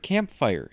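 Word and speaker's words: camphire: couple of these tricks I was using the word campfire and it may sound like I'm saying camp fire but it's spelled c-a-m-p-h-i-r-e and apparently that is an archaic term for the henna plant so I thought that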